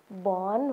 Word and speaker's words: वन: ल हेर्नुहोस् त, यो वन हो। हामी यसलाई के भनेर उच्चारण गर्ने, वन हो। लेख्दाखेरि चाहिँ हेर्नुहोस् त, वकिल वो लेखेको छ है, तर हामीले भन्दाखेरि ब भनेर उच्चारण गर्नुपर्छ है।